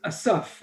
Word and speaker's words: Asaph: And the name is Asaph. Asaph, it's not Yosef.